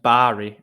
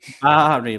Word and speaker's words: Bari: I think it's pronounced Bari, actually, but I don't intend to. Bari, like sheep.